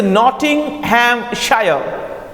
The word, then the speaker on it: Nottinghamshire: My father had a small estate in Nottinghamshire. The pronunciation of this is Nottinghamshire.